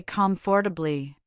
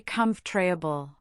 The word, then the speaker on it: comfortable: A very common one is in the word comfortable. We don't say comfortably. We say comfortable. The or sound often vanishes.